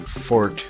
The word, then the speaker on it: Forte: Nintendo, or Rockman and Fort, or Forte. I like to pronounce it Fort. It's how I always pronounced it, because E's are silent when they're at the end.